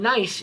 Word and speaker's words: gneiss: Now, we have looked at gneiss before. Gneiss is spelled G-N-E-I-S-S.